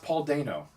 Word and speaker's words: Paul Dano: no I found out his name is actually pronounced Paul Dano oh it's not Daniel we've been saying it wrong for years well now I originally thought it was Dana yeah and then I went to Dano just